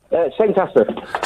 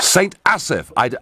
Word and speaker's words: St Asaph: How do I pronounce the name of your town, Neil? St Asaph. St Asaph.